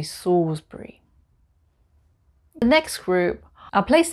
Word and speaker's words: Salisbury: salisbury not salisbury here we don't pronounce the l we just say sawsbury the next group are